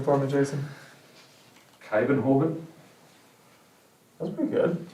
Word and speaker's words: Kuyvenhoven: Kuyvenhoven? That's pretty good. It's a shot in the dark. Yeah. Kuyvenhoven.